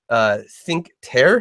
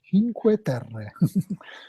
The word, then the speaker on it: Cinque Terre: or at least the first one wrong, but Cinque Terre. Did I get that right? Kind of. All right. Correct pronunciation would be Cinque Terre.